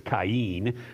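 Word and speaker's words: קַיִן: it is it is a form of the Hebrew word Cen which is really how probably you would pronounce it if you were Hebrew as Cen rather than Cain but it's this word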